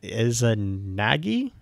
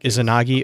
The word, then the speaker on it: Izanagi: Is Izanami and Izanagi, I think is how you pronounce that. The Japanese Izanagi, I think, Izanagi.